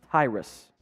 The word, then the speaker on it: Tyrus: sacks seven sacks also it's pronounced Tyrus yeah Tyrus okay I was saying it right uh not the best